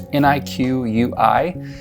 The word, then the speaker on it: Niqui: I believe that's how you pronounce the name. It's Niqui.